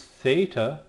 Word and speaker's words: theta: This one is theta. Makes the TH sound like in thing, not like in they. Many scholars will point out actually it doesn't make the TH sound as in thing, but it will make the sound two separate sounds together.